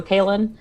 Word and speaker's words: Cailean: into the limelight is it's just like kato kalyn except it's um spelled the the actual correct irish way okay that's my snotty